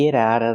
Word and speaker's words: get out of: Not get out of, but get out of. We hear the t and get and the t and out pronounced as fast e's. Get out of. Get out of the house. And you don't have to pronounce the vv sound in of because it's before a consonant.